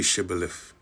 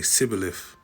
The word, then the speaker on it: Shibboleth: He couldn't say Shibboleth. He'd say Sibboleth.